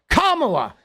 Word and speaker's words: Kamala: a real um where camela Harris had been asked about reparations okay kamla Harris had been he doesn't even know how to pronounce camela Harris like what is heing talking about bro Kamala like come on bro